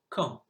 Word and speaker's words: quand: Have a look at the first word, quand. The silent letter is the D because you do not hear it.